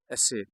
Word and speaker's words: essay: तो dear students, meaning of the word एसे, the word एसे comes from, ये लफ्ज़ एसे जो है ये कहाँ से निकला हुआ है,